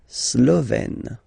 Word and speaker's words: Slovène: Slovène. Remember, E accent grave, you open it, Slovène.